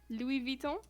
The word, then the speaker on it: Louis Vuitton: pronunciation? Louis Vuitton.